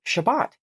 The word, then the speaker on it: Shabbat: Sabbath is actually just the English pronunciation of the Hebrew word Shabbat.